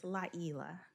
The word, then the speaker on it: Layla: Okay, so it's not pronounced like it looks. It's Layla. And it really is a Swahili, and the Y is pronounced like an E in Swahili. So it's Layla.